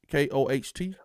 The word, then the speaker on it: Koht: Is that how you spell it? Koht? K-O-H-T?